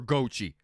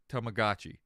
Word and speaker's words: Tamagotchi: It's always it's gotchi. Yeah, okay. Tamagotchi. Yes. Gotchi. There's no way you can call it Gochi.